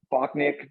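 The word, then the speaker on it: Bochniak: the same how do you say it uh bocknick bach oh a kyle bockneck yeah kyle bockham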